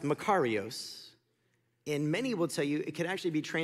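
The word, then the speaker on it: μακάριος: used as scripture I like to call it maros because it sounds like makarena and I start to dance but it's actually pronounced macaros and many will tell you it could actually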